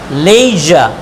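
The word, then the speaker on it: leisure: লেইজা, তাহলে আবার উচ্চারণ করছি প্লিজা, ট্রেজা, লেইজা।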